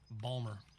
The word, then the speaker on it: Baltimore: with people from Baltimore we don't actually pronounce the T in the word balore Balmer it's it's a running